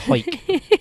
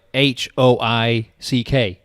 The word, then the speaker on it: Hawick: Hawick. If I used to think before it's written, it was like Hoick, Hawick or something like that. Not that way. Hawick. It sounds like you're clearing your throat.